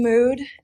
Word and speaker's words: Mood: I'm Mood, and right now I'm dressed as Wednesday from Wednesday, but I just don't wear wigs when I cosplay.